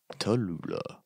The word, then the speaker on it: Tallulah: Tallulah. Yeah, rhymes with Cholula, so I like it.